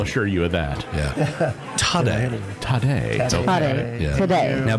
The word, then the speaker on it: Taddei: Taddei? So, Okay. Taddei.